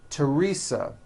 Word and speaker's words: Teresa: Although these next words and names are spelled with a TH, they are pronounced as if they were spelled with a normal T, like that.